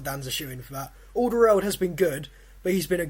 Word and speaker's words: Alderweireld: The guy's got to go through, but I can't pronounce his name. Alderweireld.